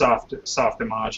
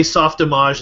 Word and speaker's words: Softimage: Yeah, I like to say Softimage instead of Soft Image because that's how they pronounce it, since they're French Canadian or whatever.